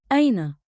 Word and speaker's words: أين: Say it slow. Aina. One beat like in with a light catch at the start.